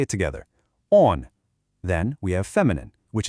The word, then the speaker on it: он: Let's say it together on.